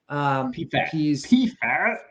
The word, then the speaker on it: Pfaadt: It's Brandon Pfaadt, or you ever pronounce his name? Pfaadt.